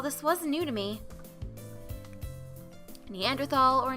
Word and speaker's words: Neanderthal: is it a preference a preference and there's no h sound when it's pronounced in french fair and german it's something that i picked up when i started working in europe however both are accepted